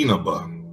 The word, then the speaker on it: Inaba: Oh no, it's actually Inaba. The eyes are spelled like it sounds like an E.